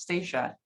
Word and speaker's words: Stacia: And just a reminder, my first name is pronounced Stacia. Oh, Stacia.